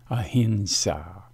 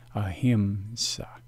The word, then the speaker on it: ahimsa: Sanskrit along with its transliteration and it is pronounced a hint saw the problem of mispronunciation is shown here the Sanskrit is the same but the original transliteration has changed into the inaccurate popular pronunciation as shown here the transliteration is not accurate and as a consequence the mispronunciation occurs this term is pronounced ahimsa now let us do